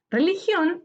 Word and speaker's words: religión: termina en vocal religión religión es una palabra aguda su sílaba tónica está en acción última sílaba séptima porque termina en n